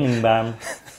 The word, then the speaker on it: Birmingham: Je me disais, putain, il le prononce bizarrement quand même. Birmingham.